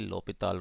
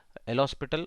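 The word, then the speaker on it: L'Hôpital: So when we apply the L'Hospital or L'Hopital rule, so many students says L'Hospital, but actually it's better to pronounce like L'Hopita is the name of a scientist.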